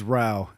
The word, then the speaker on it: Rauch: Ruoff. Also close. Yeah? Yeah. So how do you say your last name? It's Rauch. Rhymes with cow.